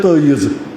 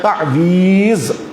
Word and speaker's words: تعویذ: تعویذ یا کشمیری کہتے ہیں تعیذ، یہ تعیذ کا یہاں کا تلفظ ہے لیکن اصل میں ہے تعویذ.